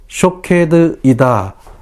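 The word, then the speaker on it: שֹׁקֵד: 살구나무는 히브리어로 샤케드입니다. 지키다는 히브리어로 쇼케드이다 라는 말입니다. 말의 발음이 같습니다.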